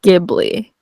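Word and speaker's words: Ghibli: just Google it no if you Google it and like you click on the little play button of like pronouncing it says gibli so I'm gonna have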